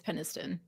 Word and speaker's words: Penniston: I'm sure they would just say like I know it looks like peniston but it's Penniston.